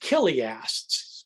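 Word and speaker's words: chiliast: people um we're called killiasts spelled with a ch c-h-i-l-i-a-s-t killiast which is the latin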